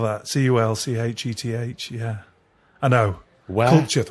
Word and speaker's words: Culcheth: Well, I grew up in a place called Culcheth. Culture. Yeah, would you like me to spell that? Culcheth.